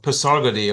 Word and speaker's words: Pasargadae: Today I'm going to talk about the site of Pasargadae or Pasargad as the Iranians pronounce it. The ruins of Pasargadae are located in southern